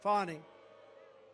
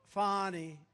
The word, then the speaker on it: Fani: Fani. It's pronounced Fani, F-A-N-I. That's Fanny. But she likes it Fani.